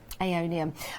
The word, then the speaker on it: Aeonium: Aeonium, I think it's pronounced. Yes, Aeonium, which is a beautiful succulent, normally in a